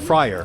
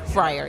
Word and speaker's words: Fryar: that's incorrect so please correct me yeah it's pronounced uh Friar Friar okay um so you're a forest park resident